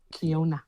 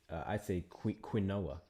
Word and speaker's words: quinoa: Kiona. I said the entire Q. I say quinoa.